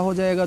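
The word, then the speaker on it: hedge: है आपको ऐसे ही ई डी जी ई इसमें भी डी मुक है तो इसको भी आप एडजे नहीं एज पढ़ेंगे हेड ज नहीं हैज पढ़ेंगे वेड ज नहीं वेज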